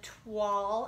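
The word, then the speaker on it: toile: This paper is called the Twall, I think is how you say it, Twall Tidings, T-O-I-L-E, Twall.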